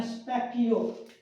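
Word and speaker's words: specchio: शीशे को कहते हैं स्पेकियो स्पेक्टियो एस ए पी ए ची ची आपका इ ओ ये बहुत अजीब है इसके स्पेलिंग स्पकियो का स्पेकियो स्पकियो हमारा होता है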